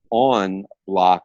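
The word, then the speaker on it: en bloc: loc but it's pronounced on lock it's a French term because the French Canadians actually coined that term and you know there's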